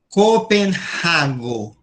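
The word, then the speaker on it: Kopenhago: Olha aí o Hppirado que eu falei, tá vendo? Copenhago. Os Stockholm também, ó.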